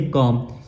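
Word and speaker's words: comb: तो वो गलत हो जाएगा हम लब्ज पढ़ेंगे कॉम सीओ एम बी कॉम उसके बाद हमारा दूसरा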